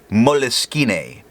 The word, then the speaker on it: Moleskine: The next writing sample is done on moleskin paper, or as some might pronounce it, moleskine.